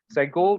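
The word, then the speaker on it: segol: Sego, you take a dart and you throw the dart there. Sego, you know? So it's very fast, okay? It's short, okay? Sego, sego. So it's a short E vowel, just to help you to remember.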